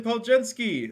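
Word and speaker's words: Podziemski: take I'm excited Brandon pojinski that's how you say his last name I had no idea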